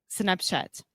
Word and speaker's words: Snapchat: little bit off so the important thing here is the CH sound when we say chat is just like a CH so just like the same way that if we say Chile in English yeah I think so